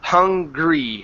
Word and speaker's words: hungry: Okay, and we're going to practice the GR instead of hungry. It's hungry. Hungry.